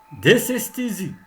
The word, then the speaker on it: Dysesthésie: Dysesthésie. Dysesthésie. Comme vous avez remarqué, toujours le S se prononce S et pas Z.